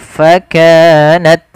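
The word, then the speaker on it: فَكَانَتْ: Pada lafal ta sukun, ta memiliki salah satu sifat hamas. Ketika hamasnya ini tampak ketika dia sukun saja, maka jangan terlalu banyak ketika dia berharakat. Maka dia dia cukup saja sedikit. Fakanat, sehingga menyempurnakan daripada makhraj dan sifat huruf tanya.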